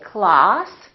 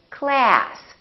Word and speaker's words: class: sounds like oh so British people say Klaus Americans say class British speakers say moth